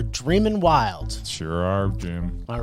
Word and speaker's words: Dreamin' Wild: They're not dreaming wild, they're Dreamin' Wild.